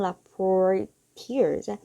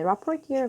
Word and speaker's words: rapporteur: UN rapporteurs urges North Korea to punish those responsible for killing of South Korean citizen at sea 라고 했습니다.